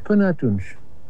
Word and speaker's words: Până atunci: Până atunci.